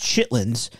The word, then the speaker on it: chitterlings: yep chitterlings I guess it's actually pronounced chitlins chitlin but it's spelled chitterlings sure so I I